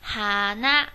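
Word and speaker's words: 花: 好，然后后面这个话字啊，它在日语中读作一个哈那，读作一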